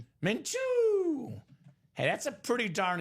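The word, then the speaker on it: Gardner Minshew: Say it how you say it, Mchu. Menchu.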